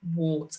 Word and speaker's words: warts: and warp okay so we've got warden warts and warp and even though they've got the ar in them we pronounce it as the o r sound right so you're going